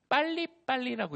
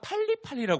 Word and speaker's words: 빨리빨리: 빨리빨리라고 있고요. 발음이 어려우니까 팔리팔리라고 불러요.